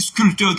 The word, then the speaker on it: sculpteur: D'ailleurs, c'est le nom dérivé du mot, et on pourrait ajouter aussi sculpteur, grand frère. Donc, dans tous ces mots, le P ne se prononce pas.